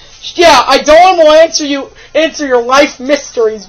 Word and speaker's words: Eidolon: Or kind of Eidolon. Spell I spelled like an eyeball, and Dolan, like Danger Dolan. And it's Dolan. Yeah, Eidolon will answer your life mysteries with truth.